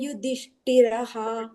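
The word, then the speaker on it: ಯುಧಿಷ್ಠಿರಃ: ಮಾತಾಜಿ ಇಲ್ಲಿ ಅಶ್ವಿನಿ ಮಾತಾಜಿ ಕುಂತಿಪುತ್ರೋ ಯುಧಿಷ್ಠಿರಹ ರ ಆದಮೇಲೆ ವಿಸರ್ಗ ಬರುತ್ತಲ್ಲ ಅಲ್ಲಿ ಅಂತ ಉಚ್ಚಾರಣೆ ಮಾಡಬೇಕು ಆಯ್ತು ಮಾತಾಜಿ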